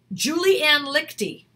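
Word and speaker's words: Liechty: Julianne Lichty, she has a class called Actors in Action, I think it's called.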